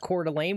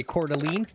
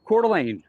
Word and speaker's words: Coeur d'Alene: It's pronounced Cordelane. What did I say? Cordelene. Did I say that? Cal. Cordelane.